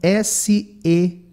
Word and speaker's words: Sean: Então, nós temos aqui, ó, okay, so hi, oi, my name is Sean, que pode também ser escrito com S-E-A-N. Essas duas escritas são comuns e a pronúncia é Sean.